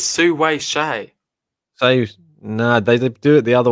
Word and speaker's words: Hsieh: And now we have advantage Shay. Yeah. Here we go. Hsieh Su-wei. Hsieh Su-wei. Yeah, mate, Bianca. It's Su-wei Shay.